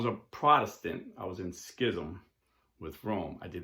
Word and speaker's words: schism: definition of each so schism or some people pronounce this ism but i'm from jersey so i'm going to say schism is the refusal of